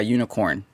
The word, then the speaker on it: Unikrn: Hey everyone, just so you know, today's show is brought to you by Unicorn. It's spelled Unikrn. It's not like traditional the way you would spell unicorn. It's different.